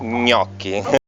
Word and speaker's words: gnocchi: Okay, the gnocchi, the correct pronunciation is gnocchi.